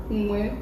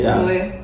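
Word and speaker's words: Huế: And today Okay, so today we're going to a city that is called Hue. City. What did you say? When? No, the other part, the last part should be silent. Hue.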